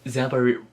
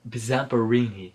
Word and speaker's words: Zamperini: wrote it down so i won't burn in pronounce it correctly samburu Zamperini I this is his story about how in